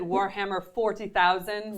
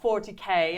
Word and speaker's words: Warhammer 40,000: and then be sure to pronounce it Warhammer 40,000. 40,000. Not 40K, it's 40,000.